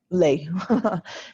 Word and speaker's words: les: We don't pronounce it with the S on the end. Lay. It's lay. And then in this last